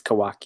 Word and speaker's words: Kawak: Kawaka? Kawak? I don't know. I don't know. Yeah. Kawak. Kawak. Yeah. Kawak. Perhaps a marketing oversight, but it's Kawak, yes.